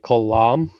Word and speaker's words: Kalam: In my mind, I pronounce his name like Kalam, sort of like Khal Drogo from Game of Thrones, and shock and awe with an M at the end.